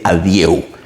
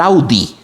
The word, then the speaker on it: adieu: Vals de l'Adieu, que se escribe adieu. Vals de l'Adieu. Un colega tenía yo que siempre decía, Jack, tocate el Vals del Audi. Del carro Audi, entiendo que es un carro.